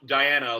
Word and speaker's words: Diana: And it is pronounced Diana, like Princess Diana.